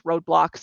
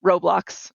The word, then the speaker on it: Roblox: game even if it's roadblocks or no roblox is how you actually pronounce it or a Minecraft or